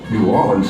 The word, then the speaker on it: New Orleans: But way down yonder in New Orleans, or New Orleans as the locals pronounce it, it's Mardi Gras.